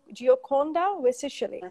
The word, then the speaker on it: Gioconda Vessichelli: you yeah fine and let me know if I'm pronouncing your name in a good wage young gioconda with socially right perfect it's understandable pretty difficult